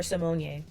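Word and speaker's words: Symoné: Simone moment like or Simone. I heard that it's pronounced Simone.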